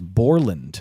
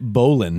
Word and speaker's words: Borland: butcher somebody's wrestling it name is Borland Borland you said Bolan Bolan ban ban B